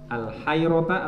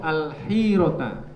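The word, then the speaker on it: الحيرة: Karena ada sopo dia Nadr, ada iku yakti datang al, bacanya apa ini? Al-hayrota atau al-hirota? Hiroh, al-hirota.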